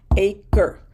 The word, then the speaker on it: acre: 2 syllables, and no, you're not pronouncing the E in the second syllable. That's a spelling rule of English. If you're not convinced, try to drag out that last syllable without getting to the R until the end. Acre, no, acre. No, you're in the R right away.